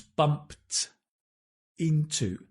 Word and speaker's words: bumped into: Notice the pronunciation, the past tense, bumped into, tinto, bumped into.